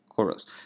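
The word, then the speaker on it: kouros: And so that stance, that pose is called basically what this sculpture is called, choros, which is spelt here again. It's spelt K-O-U-R-O-S, choros, which is actually a Greek word that means male youth.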